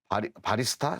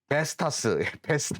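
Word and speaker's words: Vestas: 주 고객사가 원래는 이제 G사, G윈드 에너지 이쪽이 고객사였는데 최근에 이제 지멘스나 바리스타 쪽으로 바리스타 정확한 발음이 베스타스 쪽으로, 베스타스 쪽으로 매출이 확대되는, 참, 이름이 어려워요.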